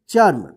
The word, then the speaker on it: चर्म: यहां पे च तो च के बाद जो है ना आधा र का उच्चारण होगा इसको क्या पढ़ेंगे चर्म देखिए यहां पे सु